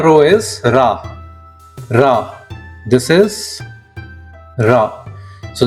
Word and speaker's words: ラ: This is ra.